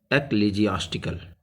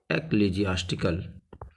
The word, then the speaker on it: ecclesiastical: a s t i c a l it's pronounced is ecclesiastical ecclesiastical it's related to church you can say and